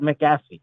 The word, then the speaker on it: McAfee: Is it McAfee? Oh, so the accent is on the F, McAfee.